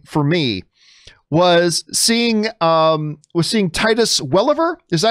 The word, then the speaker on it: Welliver: One very cool thing for me was seeing Titus Welliver. Is that how you pronounce his last name?